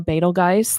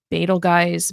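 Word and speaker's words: Betelgeuse: So, I guess my point is is there's multiple ways to to pronounce this star. Uh Betal Guys, Betal Juiced, Beetlejuice. I can't really see calling it Beetlejuice cuz that's not how you would pronounce it with just one e in English.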